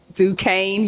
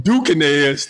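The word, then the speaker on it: Duquesne: I was talking about the correct pronunciation is duaine University you see reading is fundamental it is absolutely fundamental I went from dukez to Du University and you you were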